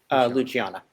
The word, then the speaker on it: Luciana: Yeah, normally pronounced Anastasia. Then King Al-Tamiki II and Queen Luciana, or Luciana? Luciana.